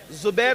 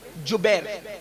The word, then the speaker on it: جبیر: پر 50 صحابہ کو عبداللہ ابن زبیر نہیں بلکہ جبیر، جیم سے جبیر، تھوڑا سا آج کل